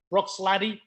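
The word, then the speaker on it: Bruichladdich: making progress anybody had brook sladdish brook sladdy it's the correct pronunciation brooks ladies you had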